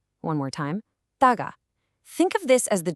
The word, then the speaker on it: 다가: Let's get the pronunciation right. It's taga. Again, taga. One more time. Taga.